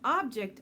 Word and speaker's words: object: My phone is an object I use to communicate with others. If we use the word as a verb, the stress is on the second syllable. Object. I object.